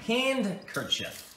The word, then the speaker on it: handkerchief: All right, and unfortunately, both of you are wrong. It's actually handkerchief.